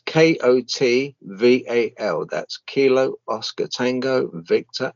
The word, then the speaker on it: Kotval: I'll spell it out. It's Kotval.